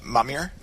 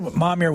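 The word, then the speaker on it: Momyer: make sure I don't M or mam uh mamir was Colonel mamir was just plain Prejudice towards us recalled span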